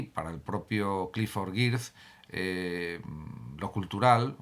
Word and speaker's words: Geertz: Frente a esta visión de Geertz, y lo pronuncio de forma correcta en castellano, frente a esta visión